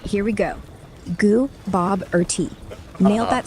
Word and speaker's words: Gooboberti: The stress is on Bob. Got it. It's Gooboberti. Stress on the Bob. I'm feeling it now. Thanks for sending... Say it again. All right, here we go. Gooboberti.